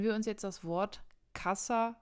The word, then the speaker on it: casa: das heißt sie haben ca und SA das heißt man würde das da trennen Casa das weiß man sagt Casa also die Betonung ist auf der ersten Silbe bzw auf der vorletzten Silbe und so die letzte wäre SAT vorletzte folglich ca man sagt ja nicht Casa na das wäre falsch dann gehen wir zu